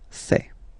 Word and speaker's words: fais: Remember, final S not pronounced. Je fais.